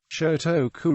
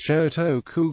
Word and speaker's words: Shōtoku: after him, such as Shotoku Gakuen University and its associated junior college. The first syllable of his name can be read Sho in Gon and can also be read Sei in Kanon.